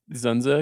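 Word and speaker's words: Dzundza: this or Basic Instinct can you just say zenza again zenza that was good George zenza I mean his name is spelled dzu n dza yeah great name good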